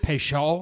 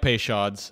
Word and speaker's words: Peychaud's: I am a big fan of Is it Peychaud? Peychaud? Like, you got to say it like a Creole person because it's a New Orleans thing.